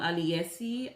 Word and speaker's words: Aliyesy: This hair was sent to me by a company called Aliyesy.